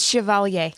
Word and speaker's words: Chevalier: WASP Quantum Mania uh Chevalier is that how you pronounce it properly is that the yes it's Chevalier Chevalier thank you Jen thank you Jen Chevalier Chevalier Chevalier uncultured swine the all-new 2023.